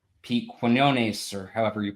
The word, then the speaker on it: Quinones: know, people like Pete Quinones, or however you pronounce his last name. I'm probably Quiznos. butchering it. You pronounce it Quiznos, Quiznos. yeah.